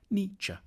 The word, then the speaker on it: Nietzsche: The challenge begins with how to pronounce his name. The first bit should sound like ni, the second like cha, Nietzsche.